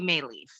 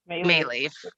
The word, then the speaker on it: Maleeff: My name is Maleeff. Maleeff. And yeah, and I just won the unlucky lottery in life with an unpronounceable maiden name and an unpronounceable married name.